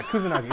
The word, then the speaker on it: Kusanagi: And in this production, the lead character of Major Kusanagi, am I pronouncing that right? I don't want to. Yeah, Kusanagi.